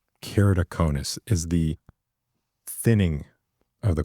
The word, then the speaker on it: keratoconus: So kerido in the front is the cornea and then conis is like a cone.